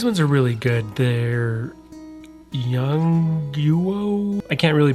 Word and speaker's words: Yongnuo: They're Yongnuo. I can't really pronounce the name very well, but it's Yongnuo.